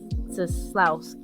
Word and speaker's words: Scislowski: Scislowski. Yeah, the C is silent, so just kind Okay.